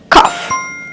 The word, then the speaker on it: cough: you pronounce these words this word is cuff cuff and this d d